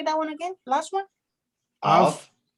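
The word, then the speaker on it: אב: av, Yep. And you know what that means. father. Yep. Yeah. Say it again. How do you say that one again? Last one? Av, Mhm. like Abraham, Abraham, Abraham, av, Exactly.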